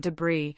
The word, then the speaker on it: debris: the unique sound ch often with t and it can even be silent in words like island and debris where it remains as a fossil of spelling.